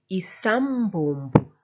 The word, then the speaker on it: isambombo: Isambombo, isambombo. You rest on the M and you pull out the B.